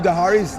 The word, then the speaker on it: Dahari: But even though it's only 6 letters, they managed to make it a 3-syllable name.